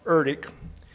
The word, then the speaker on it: ERDC: The acronym is ERDC pronounced Eric with headquarters at waterways experiment station.